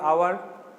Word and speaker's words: hour: তাহলে আওয়ার এর আগে কি বসবে, আওয়ার উচ্চারণটা HOUR আওয়ার, কনসোনেন্ট আছে কিন্তু উচ্চারণটা হচ্ছে ভাওয়েলের মতো, এই জন্য অ্যান আওয়ার।